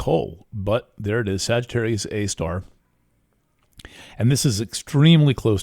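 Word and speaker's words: Sagittarius A*: called Sagittarius A star that is abbreviated Sagittarius A and then asterisk and that's pronounced Sagittarius A star there's some kind of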